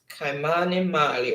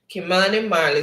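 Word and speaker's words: Kymani Marley: okay all right so who is kymani mali or kimani mali or it's pronounced kimani marli starred with spraga benz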